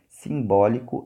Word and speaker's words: simbólico: Simbólico é uma proparoxítona. Simbólico, antepenúltima sílaba tônica, proparoxítona.